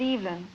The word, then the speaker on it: Evelyn: Well, I pronounce it Evelyn.